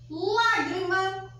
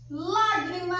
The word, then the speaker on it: lágrima: só vou escrever aqui lágrima lágrima é uma pessoa é só uma fácil porque porque essa daqui já vem com um acento então eu já sei que o mar é a sílaba mais forte e ela é classificada